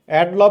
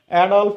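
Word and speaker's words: Adolf: একটা বই Hitler অ্যাডফল্ফ Hitler নাম শুনে নাই এডলভ বলি না আমরা একচুয়ালি উচ্চারণ হবে হচ্ছে অডলফ হিটলার এই যে এডফল্ফ হিটলার তিনি কি করেছিলেন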